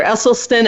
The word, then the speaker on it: Esselstyn: Esselstyn and I am going to check if I'm saying it right because I love him and I'm saying his name wrong dr. Esselstyn am I saying your name right now oh